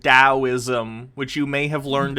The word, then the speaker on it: Taoism: stoicism like a door i'm pretty sure it's pronounced taoism which you may have